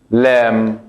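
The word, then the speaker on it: لام: ¿Cómo se escribe la letra lam? Como la alif y la kaf. Lam. Lam. Lam. Esa es la letra lam, como la L en español.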